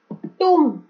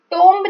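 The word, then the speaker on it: tomb: टूम, टोम्ब नहीं बोलना, इट्स टूम।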